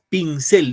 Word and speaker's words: pincel: Pincel, ¿dónde va la fuerza de voz? ¿En pin o en cel? Cel. Él. En la E. En la I, profesor. Sí. En la cel, pincel.